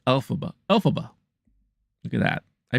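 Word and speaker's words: Elphaba: they do um oh that is how you pronounce alphaba Alaba look at that I pronounced the name right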